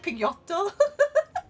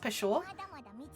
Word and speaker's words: Peugeot: It's spelled like, almost like Pigotto. So I just think Pigotto whenever I read it, and it's Peugeot, but it's like supposed to be pronounced Peugeot.